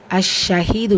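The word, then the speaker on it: الشهيد: அஷ்ஷஹீத் உச்சரிக்கக்கூடிய முறை அலிஃப் ஃபத்ஹா லாம். இது ஷம்சியாவுடைய நிலை. ஸோ அதுக்கு அடுத்த எழுத்து ஷீன் இருக்கிற ஷத்தா பற்றி வந்திருக்கு. அஷ்ஷ அப்படி உச்சரிக்கணும். அஷ்ஷ ஷத்தாக்குரிய அழுத்தம் கொடுங்க. ஹீல யாமத்தா இருக்குது, 2 ஹரக்கத்தளவு நீட்டம் கொடுங்க.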